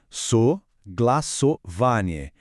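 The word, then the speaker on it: согласование: Em russo se diz saglassovanie. Vamos treinar a pronúncia juntos devagar. Soglassovanie.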